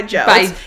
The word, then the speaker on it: DJ: By Joe. It's pronounced Joe. Have you seen that Coachella stuff he has? It's pronounced Joe, but it's literally just spelled DJ.